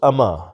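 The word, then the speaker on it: امۃ: جاتے ہیں ان میں لفظ امت کو یعنی میم کی جزم کے ساتھ پکارا جاتا ہے، جبکہ صحیح تلفظ اما یعنی میم کی فتح زبر کے ساتھ ہے۔ سوء ادب۔ ایک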